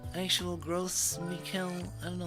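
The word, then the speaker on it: Gros Michel: Wait, let me see how you pronounce. Gross Michel.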